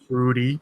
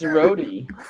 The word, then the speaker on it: roti: America is talking about, Rudy, aka Ruti. Shook it up, American woman pronouncing it wrong. What she call it? Rudy? Rudy, as in R-O-D-I. When it obviously have a T in it. It's Rody.